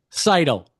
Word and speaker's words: Seidl: Cidell, that's that's how you pronounce the last name, right? Cidle there.